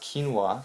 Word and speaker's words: quinoa: Quinoa, pronounced quinoa, wow, I didn't know that, provided a wide range of vitamins and minerals.